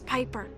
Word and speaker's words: Piper: By the way, the name's Piper. Rhymes with Viper.